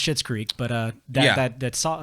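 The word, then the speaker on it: Schitt's Creek: you know it's pretty it's pronounced shit's creek but uh that that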